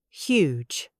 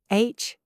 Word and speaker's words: huge: First, huge. H-U-G-E. The H is soft but present.